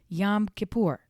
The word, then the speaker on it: Yom Kippur: So it got to be the one I thought it was, Yom Kippur.